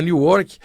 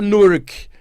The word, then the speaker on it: Newark: Inclusive, o brasileiro fala Newark, lá tem uma comunidade de brasileiros enorme. Um abraço aí para vocês que estiverem escutando o programa. E aprendi que a pronúncia certa é Newark, né, como o pessoal chama lá.